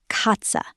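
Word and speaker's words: Katze: Cat is katza. Say it. Katza sounds like catsa.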